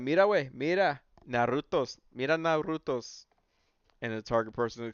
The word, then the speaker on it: Naruto: says you got to pronounce Naruto by rolling your R the correct way Naruto every time I see